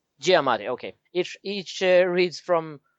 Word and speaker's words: Giamatti: c hall and paul giamatti hope that is pronounced right giamatti giamatti okay it each reads from from a story